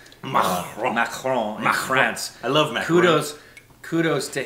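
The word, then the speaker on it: Macron: I mean she went she slid right into the French pronunciation of Mron. Mron in France.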